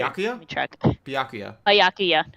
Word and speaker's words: Byakuya: Byakuya. Byakuya.